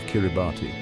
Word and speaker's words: Kiribati: The pronunciation with the S sound for T became an integral part of their new identity, a linguistic marker that distinguished their own name from its English origin.